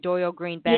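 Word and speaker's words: Dorial Green-Beckham: Dorial, did I say it wrong again? Dorial Green Beckham. Yeah, I always do that, and I'm trying to correct myself. I'm trying to relearn how DGB, trying to relearn it.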